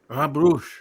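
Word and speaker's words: Brugge: he visited the town I'm going to pronounce this wrong uh Gustavo you can correct me I'll spell the word be it's in Belgium b-r-u-g-g-e Bruce Bruce okay thank you so he visited the town of Bruges in Belgium and took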